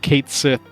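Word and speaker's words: Cait Sith: It's like no I refuse I refuse to call him Tetus or like Kate Sith versus Katchy or whatever.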